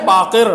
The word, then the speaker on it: باقر: آپ یہ دیکھیں اس مقدمے کی آخری بات، امام محمد باقر علیہ الصلوۃ والسلام، صحیح تلفظ ہے باقر بروزن فاعل جیسے صادق و کاظم.